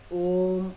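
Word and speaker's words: ওঁ: পদ্ধতি নেই, এমনি নর্মালে ওকারটা যেমন উচ্চারণ করেন ও বলেন ওম, মানে ওকার আর মকার এইভাবে বলতে হবে, ওম, এরকম।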